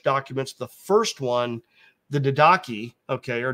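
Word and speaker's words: Didache: the first one the daki okay or D daachi it's in Greek it's probably Dak hard C Dake daki Dake um was one of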